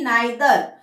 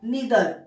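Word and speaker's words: neither: मैं इसका प्रोनाउंसिएशन करूंगी नाइदर। पर कभी कभी नहीं, इसका दूसरा भी एक प्रोनाउंसिएशन है, इधर नीदर।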